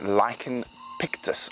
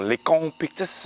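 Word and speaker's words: Lycaon pictus: course its scientific name is lichen pictus or likhong pictus it depends on your pronunciation and that means painted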